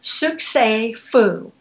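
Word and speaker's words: succès fou: um in terms of abundance is the French Suk Fu which is spelled s u c CES and then a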